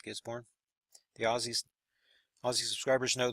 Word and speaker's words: Gisborne: Zealand its northeast of Gisborne New Zealand that the way you say it gets born the Aussie Aussie subscribers